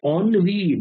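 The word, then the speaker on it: ennui: the word onv because onv the word written as n is pronounced as onv what is the meaning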